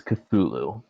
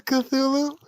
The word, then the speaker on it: Cthulhu: Even the authors gave like 3 different ways to pronounce it. Yeah, But because the common pronunciation is Cthulhu. Wait, that's Cthulhu?